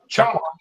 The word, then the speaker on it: Choctaw: How do you pronounce that? Choctaw? Choctaw.